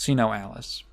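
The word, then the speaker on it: SINoALICE: or Sino Alice as as it should be pronounced see no Alice casino is a Latin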